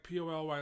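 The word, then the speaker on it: Pali: Not Poly like P-O-L-Y like Polynesian. It's spelled P-A-L-I, I think, or something. Poly Highway.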